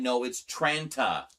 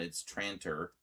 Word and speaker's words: Tranter: and uh there was this one guy who insisted that it was like Pete Tranner or something like uh Oh, Tranta. That's what it was. Tranta. Pete Tranta. He's like, "No, it's tranta." And I'm like, "No, it's not. It's tranter." It's like, "Well, this is how he says it. He says it tranta." Yeah, because he has an accent.